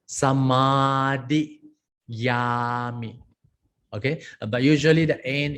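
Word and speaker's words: samādiyāmi: Sa is a short, ma is a long, samadhiyami.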